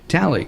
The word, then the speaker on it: Talei: Ben anyway gotcha and am I pronouncing your name right yeah absolutely tally you're one of the